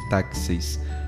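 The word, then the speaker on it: τάξις: desde os tempos primitivos de taxis em grego pronuncia-se taxis de ord em latim por exemplo a liturgia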